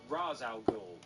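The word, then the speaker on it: Ra's al Ghul: Crusader facing up against racial ghoul or razow girl depending on how you want to pronounce it who in a bit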